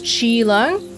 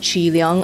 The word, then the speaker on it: Chi Leung: But in Cantonese, this guy's name is Chi Leung. Or if you want to pronounce it more Americanized, it would be like Chi Leung, I guess.